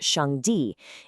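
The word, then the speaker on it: 上帝: In the source text we're exploring the Chinese term Shang Di, pronounced Shang Di, is used to describe this ultimate source.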